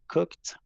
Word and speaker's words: cooked: um, I have cooked my lunch. Very good. I have cooked my lunch. And just be careful because here the ED, Andres, is going to be pronounced like a T, a strong T.